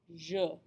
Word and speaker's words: je: This je is pronounced je. Je. Take careful note of that vowel sound, the Make sure that when you pronounce this word, you have that vowel sound, je.